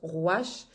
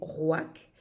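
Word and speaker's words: ruach: par esprit souffle vend certains prononce roche moi je préfère prononcer WAC et codesh ou à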